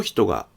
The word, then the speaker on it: ひと: Summary: The consonant of "hi'' is pronounced as a voiceless palatal fricative. The vowel of "hi'' is voiceless. The pitch of the particle after "hito" does not fall.